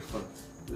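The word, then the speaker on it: Pfund: और 5वां फुंड, साइलेंट, फुंड स्पेक्ट्रमी श्रेणी।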